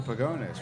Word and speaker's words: Pagones: Yeah, well- This is Michael Pagones, right? Yeah, that's me. Did I pronounce that correctly? You pronounced it perfectly, actually.